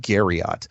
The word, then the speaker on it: Garriott: that sort of thing his name was Richard Garriott's like Marriott only spelled with a g' and this guy came